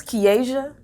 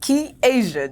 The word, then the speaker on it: Kiasia: So the craziest thing is, my name is Kiasia. Literally, it's simple, Kiasia, just how it's spelled.